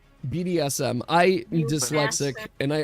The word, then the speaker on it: BDSM: BDMS. You said it wrong, you bastard. BDSM.